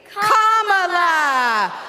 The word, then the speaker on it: Kamala: First you say comma like a comma in a sentence. Then you say la like la la la la la. Put it together and it's 1, 2, 3. Kamala.